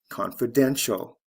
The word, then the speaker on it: confidential: t i a l confidence confidential first syllable to third syllable stress shift preference preferential